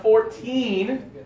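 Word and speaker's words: fourteen: Okay, for these ones, when we're talking about the smaller number, I like to put the accent on the last syllable. And the bigger numbers, the accent is on the first syllable, okay?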